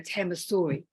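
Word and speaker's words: Hammershøi: bilheim hamashot Emma Sawyer I was looking online a Tama Story the pronunciation seems to be used by the experts so um and build him hamasoi lived in this large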